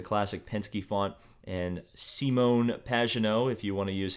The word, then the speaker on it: Pagenaud: Obviously, the number 1 using the classic Penske font and Simon Pagenaud, if you want to use his proper French pronunciation.